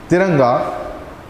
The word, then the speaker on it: Tiranga: The Hindi pronunciation is Tiranga, or in English we can say Tiranga, or tricolor.